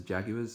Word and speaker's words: Jaguars: Sorry for my Australian accent, I know it's pronounced differently in America, but over here everyone says Jaguars, so we're just going to go with that.